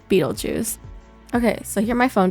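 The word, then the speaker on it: Betelgeuse: Um, but it's actually pronounced and often spelled Beetlejuice.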